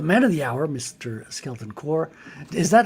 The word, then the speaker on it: Skeleton Corps: Skeleton Core. Is that how you pronounce it? Skeleton Core.